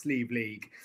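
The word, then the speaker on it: Sliabh Liag: gaelic very very very gaelic name but it's pronounced sleeve league absolutely yeah exactly yeah just listening to the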